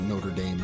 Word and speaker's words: Notre Dame: notor Notre Dame and I think people call it Notre Dame so it's yeah it's the Americanized pronunciation I think yeah it's an Americanized version there's a lot of